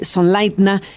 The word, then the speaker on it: Sonleitner: Se escribe Sonleitner, pero se pronuncia, nos has dicho, Sonleitner.